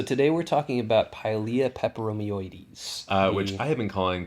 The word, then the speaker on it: peperomioides: Which I have been calling Pilea peperomioides, and then luckily Jane over at On the Ledge and her guest, Michael Perry, Mr. Plant Geek, helped me learn that I was leaving out a whole syllable.